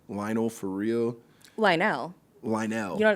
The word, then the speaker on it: Lionel: is a whole thing she did that it's Lionel. About Lionel Richie? Yeah, that he said that she everyone's mispronouncing his name, it's Lionel.